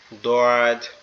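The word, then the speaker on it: ض: আমাদের জিহ্বার গোড়া অর্থাৎ আমাদের জিহ্বার একবারে ভিতরের অংশটা ডান পাশের মাড়ির সঙ্গে লাগবে। ডান পাশের মাড়ির সঙ্গে লাগবে। এরকমভাবে দয়াদ দদ দদ এই অক্ষরটা একটু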